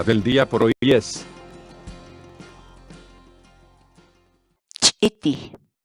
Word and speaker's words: ch'iti: de videos en la que te enseñamos a pronunciar algunas palabras en quechua. Así que nuestra palabra del día por hoy es ch'iti, ch'iti, ch'iti, la palabra quechua.